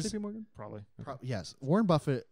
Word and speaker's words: Buffett: Morgan probably yes Warren Buffett like is I think a very well regarded person it's pronounced Buffet Warren Buffet War Buffet it's French he I forget if